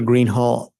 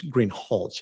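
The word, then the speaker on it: Greenhalgh: you your honor officer Greenhall I believe I'm mispronouncing your name it's green hch isn't it correct okay I apologize will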